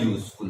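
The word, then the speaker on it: useful: है, यू, य, भले वॉवल है लेकिन साउंड किसका आया, अ आ ई ए ओ औ अम अह, इनका साउंड है नहीं, इनका साउंड नहीं है। यहां पे साउंड है य का, साउंड है य का, वॉवल साउंड नहीं है, व्यंजन का यानी कॉन्सोनेंट साउंड है।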